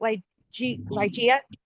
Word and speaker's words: Lia: Uh, I want to make sure I say it right. Lia. Yep, you said it right.